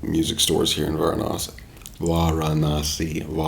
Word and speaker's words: Varanasi: I always say Var. I don't know how I can still be doing that after all these years. Mispronouncing. I see an A, I pronounce it like one of the wrong ways to pronounce it in English.